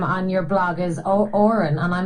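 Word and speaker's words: Odhrán: pronounce your name and I thought it was o or a an but he said it was o or n so Orin but again the DH kind of throws you off there as well so and then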